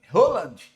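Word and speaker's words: Haaland: Holand é a pronúncia aqui, tá? De Rand. Halland é brasileirado, mas a gente sabe que a gente trabalha tecnicamente, a gente tem que falar o certo.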